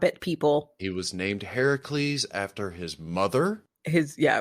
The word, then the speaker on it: Heracles: person that you see i'm hercules or heracles as it's correctly pronounced steelers god there have